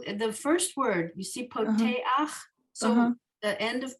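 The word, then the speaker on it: פּוֹתֵחַ: So the first word, you see poteach. So Uh-huh. the end of poteach, you have the chet with the a under it, and that we say it as ach.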